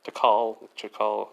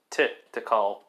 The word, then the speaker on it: Tikal: I think I've been saying that wrong. Chakal, something. Okay, I was saying it wrong, not shit, it was Tikal.